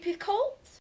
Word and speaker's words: Picoult: by Jodi pic yeah I always pronounce it wrong Jodi Picoult next I finally got